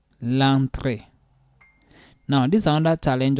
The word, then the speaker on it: entrée: L'entrée. L'entrée. Now, this is another challenge also that English people are having. You see this mark on the E. Yeah. So that will make it sound A.